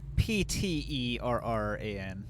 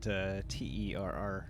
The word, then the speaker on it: Pterran: Pterran, not Terran. Not an Earthling, but a pterodactyl man.